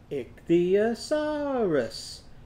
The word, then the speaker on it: ichthyosaurus: of it to me can you say that ichthy now say asaris say that back a saris now let's put it together ichthyosaurus ichthyosaurus now let's count how many syllables are in that word ready ich the uh saw wrist and we had to come